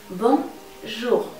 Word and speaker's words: Bonjour: ¿Te acuerdas cómo pronunciamos en el alfabeto la J? J. Pues ahora vas a enmudecer la I y vas a pegar la J a la siguiente letra, lo que sería una O. Bonjour.